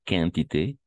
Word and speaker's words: quantité: Ah, ici, et on va prononcer qualité et quantité. On prononce le U.